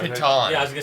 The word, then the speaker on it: piton: I thought it was Pitten, but I'm Thank not you.